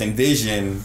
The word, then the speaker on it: NVZN: So yeah, that's kind of like, so it's Envision, as in like envision, whatever you envision, create that shit. Yeah. But it's spelled out NVZN.